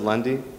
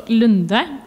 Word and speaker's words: Lunde: Is it Lundy? Oh, Lunde. Lunde. Perfect. Lunde?